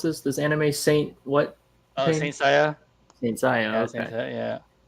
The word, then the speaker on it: Saint Seiya: How do you pronounce this? This anime Saint what? Saint Seiya.